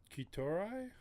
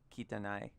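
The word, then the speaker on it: 汚い: Kitorai? No. I'm close. Kitanai. Kitanai. Kitanai! See, look, I had one syllable off.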